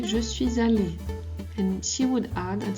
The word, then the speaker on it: allée: But if it's a woman who is speaking, she would say je suis allée, and she would add at the end a E. We don't pronounce it, it doesn't make a difference, but when it comes